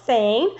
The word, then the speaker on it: Sain: agent and we have with us miss sane am i pronouncing your name correctly that's correct said